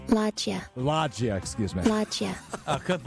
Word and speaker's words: loggia: Here's the pronunciation. Loggia.